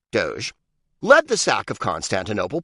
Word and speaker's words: doge: odd years old doge venetians call their leader a doge pronounced doge led the sack of